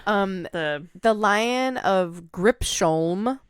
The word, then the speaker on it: Gripsholm: The Lion of Gripsholm. So spelled like grip, Sholm.